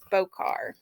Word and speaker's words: Bokor: I hope I'm pronouncing that right. It's spelled Bokor. My dialect sometimes causes me to mispronounce things, and for that I apologize. But I would say it's Bokar.